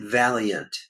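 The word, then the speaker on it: Vaillant: pronounce his last name he pronounces it Valiant I always not noticed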